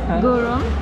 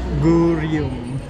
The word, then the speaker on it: Gureum: Andito tayo ngayon sa How do you read that in Korean? Gurom. Gurom Cafe. Gum. Wrong na yun.